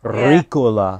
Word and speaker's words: Ricola: Ricola. Yeah. Yeah. Yeah. Yep. You have to roll the R's and then the A is like, I don't know.